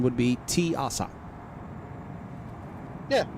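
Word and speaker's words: Teasa: no I'm not going there for damn sure tiasa Spaceport yep tasa Spaceport no tiasa I'm going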